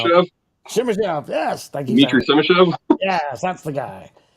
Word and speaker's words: Simashev: I'm not gonna pronounce Simashev? Simishev.